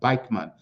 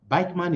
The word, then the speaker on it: Bikman: A long story, but if you can, read the book by Professor Benjamin Bikeman. Bikeman is spelled Bikman.